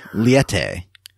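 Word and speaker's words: Liete: Is it I couldn't figure out how to pronounce it. I know she says it once, but I couldn't remember. It's Liette. Liette.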